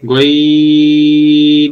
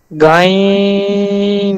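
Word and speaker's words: غين: গাইন জবর গা গাইন না স্যার, গইন। রস্য হবে এখানে, গইন হবে, আকার দিন হবে গাইন।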